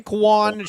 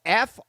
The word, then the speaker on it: Franquan: I am going to go Franquan is spelled Frankjuan. Franquan. No. Turned him into a Hispanic. Franquon. Frank Quan Sherman. Not Fran Juan or Frank Juan. It's Fran Quan.